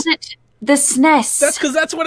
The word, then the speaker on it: SNES: They pronounce it SNES. SNES is canon. SNES is canon. Everybody else is like this alternative rebel without a cause thing. SNES is the canonical way to pronounce it.